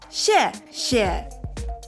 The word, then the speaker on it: 谢谢: Because there's no English phrase for to pronounce that share, but maybe there's something, share, So 谢谢.